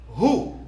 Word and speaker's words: who: Who? The word is who. Who? Who let the dog out? Who? C'est pas who, mais c'est who. W a pas prononcé là-dedans. C'est who.